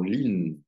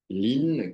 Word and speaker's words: Lyne: la découverte du prénom lin lin qui s'écrit l y n e et non pas l i n e en tout cas c'est